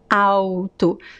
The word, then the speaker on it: alto: words we don't say alto no there is no l sound in this word au tu so it's the same pronunciation as the word auto written with the letter u um u a u t o same pronunciation as alto when you know what